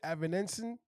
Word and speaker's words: Avanesyan: David Avanesyan. Avanesyan. I can't pronounce that last name.